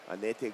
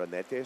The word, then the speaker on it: Anete: And then we had Adur come in here and he called her Anete. So I think in like the Basque pronunciation for Annette is Anet.